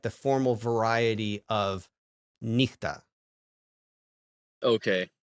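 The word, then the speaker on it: νύχτα: And it sounds like he before e and e, and it sounds like ch before every other consonant, like echo and nichta, right?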